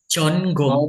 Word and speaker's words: 전공: Ini tetap N, tetap G. Jonggong.